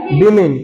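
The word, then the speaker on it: women: वही चीज लिखा रहा, वोमेन वोमेन वोमेन लिख रहे हो और पढ़ रहे हो वही।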